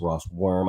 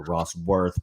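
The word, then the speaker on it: Rosswurm: I was embarrassed because I mispronounced her name I I saw it up on the board I was like oh my God it's Ross worm I think I called her Ross worth but I'm going to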